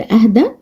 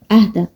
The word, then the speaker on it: أهدى: أهدى. طبعا هو بينتهي بياء بس ياء غير منقوطة. يعني ايه غير منقوطة؟ يعني مفيش تحتها نقطتين. احنا بننطقها كأنها ألف عشان كده اسمها ألف لينة، لكن هي جاية على شكل ياء.